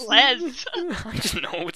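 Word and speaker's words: Les Misérables: that's not letter that's letters that aren't pronounced are the two s's at the end of each word yeah so like it there's no reason to call it either Le misera Miserables says Les I just know it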